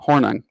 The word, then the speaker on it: Hornung: Hornung.